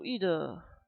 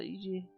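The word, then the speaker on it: Edie: Genau, Ide. Oder Idi. Ich glaube, das wird Ide ausgesprochen.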